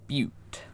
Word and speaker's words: Butte: into my next Endless Zone goal, Big Bad Butte. Yes, that is how you pronounce that.